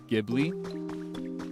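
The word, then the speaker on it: Ghibli: And in English, I think it's more common to say Gibli because in English when we see an H next to a G, our brain processes that as like a G if it's at the beginning of a word.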